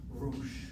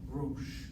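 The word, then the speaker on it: ראש: The aleph here is not a consonant, it's the marker of a long O sound. Rosh. Rosh.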